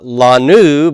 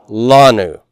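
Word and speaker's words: לנו: Now we get to the last one, and it's not lanu, but lanu. This is the only place where we have first syllable stress when there's two syllables. So you need to make sure you put that accent mark on the lamed.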